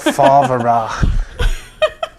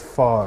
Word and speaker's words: Favre: Brett Favre. Is that how you say it? No, it's Brett Favre.